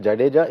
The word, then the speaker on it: Jadeja: but for overseas commented Jadeja is the most difficult word to pronounce but it's actually ja ja ja ja deja correct correct it's easy and but